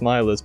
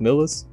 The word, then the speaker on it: Millist: Which I always thought it was pronounced Milist, but apparently it's pronounced Millist. Whatever.